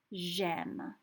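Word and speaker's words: j'aime: and here vowel vowel so what we have to do actually is we have to do this j apostrophe m so it comes out as gem so you could say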